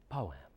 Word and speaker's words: poem: a real poet Carol poem is two two syllables a poem wait let me do that right okay much better um